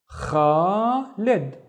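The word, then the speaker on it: خالد: We have the la with a kasra, so it's actually li, and then the da with no vowel, so it's lid, khalid, Khalid.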